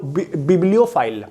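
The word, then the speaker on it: bibliophile: next है बब्लो फाइल इस word को ऐसे प्रोनाउंस करेंगे बब्लो बब्लो फाइल बब्लो फाइल पु पुस्तकों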